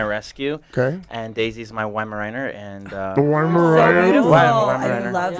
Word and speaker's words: Weimaraner: And Daisy's my Weimaraner. And Beautiful. I Weimaraner. love that. Yeah. That's Have her you name. seen Best in Show? Isn't that her name? When you're drunk. Close, Weimaraner.